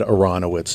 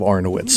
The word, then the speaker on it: Aronowitz: was just focusing that they said Aronowitz instead of our nowit's so that was the